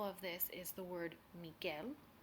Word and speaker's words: Miguel: this is the word Miguel where the U is silent and the word verguenza